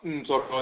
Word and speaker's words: Ntoro: The term Ntoro is the term Ntoro, or quote-unquote Neter, properly pronounced Ntoro in the Akhan language.